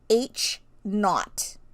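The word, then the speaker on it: H₀: the bottom right corner okay and that is pronounced H naught or the null hypothesis then you'll usually see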